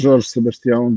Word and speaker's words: Jorge Sebastião: So, George Sebastião, as I think that's how I pronounce it. Is that correct? Yeah, Jorge Sebastião. Jorge Sebastião is fine.